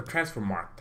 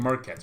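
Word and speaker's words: Transfermarkt: on transfer market or transfer mark I kept saying Marquette's but I never knew how to say it transfer mark it takes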